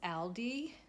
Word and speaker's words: Aldi: I'm telling you, if you buy anything from Aldi store, Aldi, I think that Aldi is like a German grocery store, and it's actually pronounced Aldi.